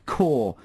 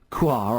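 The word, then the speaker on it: Kaur: the pronunciation of bubbly quoi i believe i pronounced it phonetically it's actually pronounced core he's texted again this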